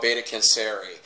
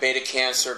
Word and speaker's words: Beta Canceri: Now, they came here from a star system called Beta Canceri, which is like Beta Cancer, but has an I on it. A lot of the dark side pronounces it Beta Cancer.